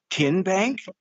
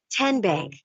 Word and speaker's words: TN Bank: How do you say the name? TN Bank? No. Tin Bank? So what is it? 10 Bank. 10, as in Tennessee, right here where all our banking